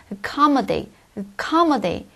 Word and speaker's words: accommodate: 않죠 그다음 세 번째 acc comate 뭔가 이렇게 숙박시 하고 수영하다 의미인데요이 동사도 역시 강사 이음절 있니다 따라서 가 아니라 acc comate 우리게 꼭 com 밖에 안 들린다는 얘기예요 다음 accept 역시나 강사